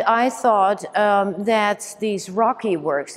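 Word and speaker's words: ROCI: thought um that these Rocky works it's r o CI is pronounced Rocky are were interesting words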